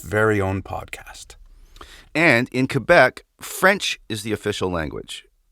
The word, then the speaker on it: Quebec: matthieu right out of the gate y'all it's pronounced quebec not quebec technically quebec is one of the ten